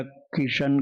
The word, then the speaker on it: कृष्ण: कृष्ण की जगह कृष्ण, जैसे आपने ण क्यों न बोला, या कृष्ण कृष्ण कहा, या किशन कहा, तो उसमें कोई भी कमी नहीं आएगी, क्योंकि आपको ये नाम मान करके जपना है, मंत्र मान के नहीं।